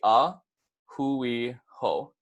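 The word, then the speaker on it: a hui hou: easy to pronounce - ah Hui ho is three separate words so it's gonna be aa Hui and then ho so if you guys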